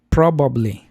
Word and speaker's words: probably: Sí, yo decía, eh, probably.